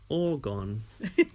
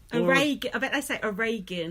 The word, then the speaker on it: Oregon: get it wrong constantly they say all gone but it's a Reagan well she's put Oregon